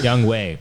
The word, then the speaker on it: Younghoe Koo: Young Konsu, did Well, I say it right? Younghoe.